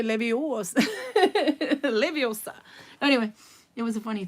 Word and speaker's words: Leviosa: It's not Leviosa. It's Leviosa. No, it's not Leviosa. It's Leviosa. And in Norwegian they say Leviosa. Leviosa.